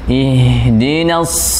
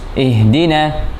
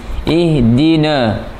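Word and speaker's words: اهدنا: Kebanyakan kita bacanya ketus. Ihdina, ini salah. Alirkan nafasnya. Ihdina, tapi jangan sampai kebablasan. Ihdina, la. Alirkan tapi masih agak diberatkan suaranya. Di kasrah. Di hamzah dikasrahkan. Bukan tapi alirkan. Na tipis.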